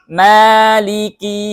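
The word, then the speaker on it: مالك: sini ada kata leci huruf k ini hati-hati mengucapkannya jangan sampai terlalu berlebih-lebihan Ya walaupun dia memang memiliki sifat hams tapi yang namanya hams itu adalah hanya terdengar oleh orang terdekat saja ya orang yang agak jauh tidak tidak bisa mendengar hamsnya atau aliran udaranya ya kakiku Nah itu tidak ya tidak boleh berlebih-lebihan jadi Maliki yaumiddin di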